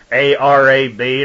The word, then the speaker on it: arab: We have the word A-R-A-B, and it's pronounced Arab, a prime root meaning to lurk and lie in ambush, or ambushment, lay, wait, or lie in wait.